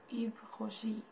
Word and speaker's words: Yves Rocher: Actually, this is a French brand. That's why you have to keep that pronunciation, that French pronunciation, and we pronounce it like Yves Rocher.